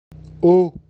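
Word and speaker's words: eau: вулиці і заарештовує його о вода пишеться трьома літерами вимовляється однією нічого дивного для французької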